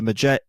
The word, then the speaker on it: Magi: Imhotep, is about to resurrect Anck-su-namun, but then the Magi, am I saying it correctly? Correct.